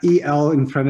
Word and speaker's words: Elero: you say this yes think of aero with the el in front of it so there we have